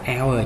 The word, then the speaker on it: hour: Rồi chữ này mình đọc là hour, chữ H này câm.